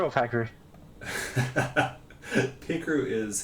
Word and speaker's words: Pikachu: Is it Pikachu or Pakaru? Pikachu is how I've always pronounced this.